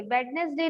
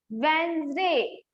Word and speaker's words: Wednesday: रविवार, मंडे, सोमवार, ट्यूसडे, मंगलवार, वेडनेसडे, बुधवार, थर्सडे, वेडनेसडे नहीं, नहीं रुक जाइए, वेडनेसडे नहीं, वेंसडे। क्या? वेडनेसडे, डी हटा दो, डी हटा दो, वेंसडे।